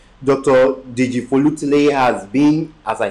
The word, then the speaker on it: Deji-Folutile: Hey, Yoruba is an ethnic division in Nigeria, so his the right pronunciation for his name is Dr. Joseph Dejifolutile. Dr. Dejifolutile has been, as I said initially, in the